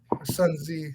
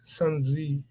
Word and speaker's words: Sun Tzu: oh yeah yeah well the way that's written i thought it seemed like it would be sun z but i think i've heard everyone say sun tzu maybe i should not